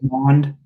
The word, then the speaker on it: Kellen Mond: Kellen Mond, is that how you say it? Mond.